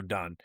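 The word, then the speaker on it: Donne: I I've heard it pronounced both ways. Don or Dunn. Uh we're going to go Dunn.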